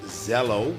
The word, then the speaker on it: Zello: careers the nominees are zello pronounced zello with z scribble and e-dynamic learning